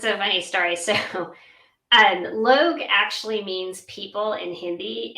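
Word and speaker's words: लोग: And she said, "It's Log."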